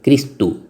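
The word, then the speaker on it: Χριστοῦ: Se escribe Christou. Es Christou.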